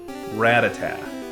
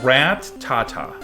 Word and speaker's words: Rattata: good rat attack I think I called a rat attack but even though there's no tea at the end rat uh oh so it's like rat Tata ratata Rattata that's probably how I pronounced it it's like the anime you said rat attack it's weird because you have two T's and you'd treat them as if it's just one you go rat uh instead